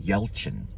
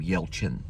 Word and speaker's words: Yelchin: But he did several different films and worked with Anton Yelchin. That's how you say his name, Yelchin.